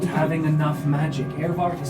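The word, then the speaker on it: Aervardt: Earvart is spelled A-E-R-V-A-R-D-T.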